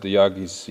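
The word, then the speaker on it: Yağız: Monte Carlo and Yagis is how they say Turkish advised me to pronounce it is doing really fabulous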